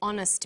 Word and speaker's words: honest: happy man but an honest man the H is not pronounced so honest sounds like